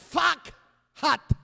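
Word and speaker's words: פחת: Fakhat. En vez de P, póngale una F. En vez de pakhat, ahora es fakhat.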